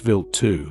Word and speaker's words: Wild 2: Its main target was comet Wild 2, pronounced Vilt 2.